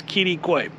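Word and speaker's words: Quitaque: In case you're looking at that going, how do you pronounce that? It's Kittiquay.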